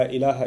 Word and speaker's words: ilah: this Arabic phrase, La ilaha illallah, in which there's the term ilah. If you want to write that in English, it would be I-L-A-A-H, ilah. It's pretty easy to pronounce in English, okay?